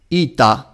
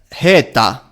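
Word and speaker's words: ἦτα: of the language is the phonetic value of ita, which is heta in ancient Greek. In simple terms, it is a long e instead of an e.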